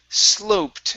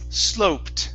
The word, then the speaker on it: sloped: very good um here this is sloped instead of slopped up it's sloped sloped up sloped up okay one more time